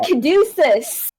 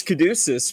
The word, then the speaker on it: Caduceus: I went Caduceus. I was gonna Yes, say, I know. I think it's Caduceus because of the fucking character from Critical Role Exactly.